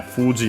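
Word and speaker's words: 富士: Uh so yeah, Fuji on its own should be accent on the first moa.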